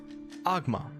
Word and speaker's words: Ogma: A circular from the Church of Ogma, Lord of all knowledge. Agma, pronounced Agma, also known as the Lord of Knowledge, was a Faerunian neutral greater deity of bards, inspiration, invention, and knowledge.